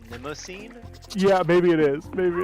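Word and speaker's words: Mnemosyne: It's like Minosin. It is. It is I think one of. the M. I think the M is silent, but Mnemosine.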